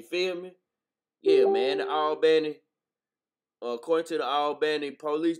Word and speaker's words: Albany: how they say it most people say Albany but where I'm from they pronouncing Alan you feel me yeah man the albny according to the albny